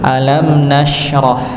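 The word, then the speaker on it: ألم نشرح: ya di sini ya kita dapati alam nasrh ng pakai syin alam nasrh Jangan sampai kita membacanya dengan dengan Sin alam nasrh tapi Alam Nasroh n ng alam Nas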